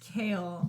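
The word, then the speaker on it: Chaol: two of this series it's pronounced Kale like Kayla said to um I think last book club that it's like chaos so like kale k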